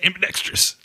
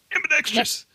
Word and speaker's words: ambidextrous: It's like, it's ambidextrous. Ambidextrous. Well, now you got me wondering how the heck I say it. Just take the I out. There is no I.